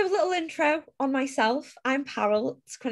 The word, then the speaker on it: Parul: intro on myself i'm parallel it's pronounced like carol but with a p and my pronouns are